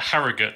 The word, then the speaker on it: Harrogate: instead to evan from is it pronounced harrogate it's uh harrogate david harrogate welcome sir